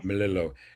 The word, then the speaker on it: Melillo: program is a Ukrainian folk song by Stephen Melillo, if I'm pronouncing it right. Stephen Melillo, yes. Melillo.